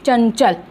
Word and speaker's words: चंचल: तो इसका उच्चारण इस तरह से करना है। जब हम इसको लिखेंगे तो ऐसे लिखेंगे, अगर हम अनुस्वार नहीं लगा रहे हैं तो ऐसे लिखेंगे, चन चल, आधा य, ठीक है, चंचल।